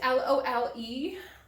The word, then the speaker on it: Lole: This is L-O-L-E, so Lole, I believe is how it's said.